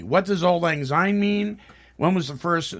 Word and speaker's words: Auld Lang Syne: It's actually pronounced Auld Lang Syne.